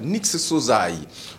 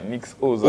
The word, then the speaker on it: Nix Ozay: Il s'appelle Nix Sozai. Voilà, avec nous. Bonne arrivée, mon cher ami. Ça va? Merci, merci. Ouais, ça va bien. Nix Sozai. J'ai bien prononcé? Nix Ozai.